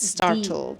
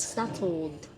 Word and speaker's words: startled: again startled startled startled remember to Clearly say the D at the end startled startled yes startled consonant at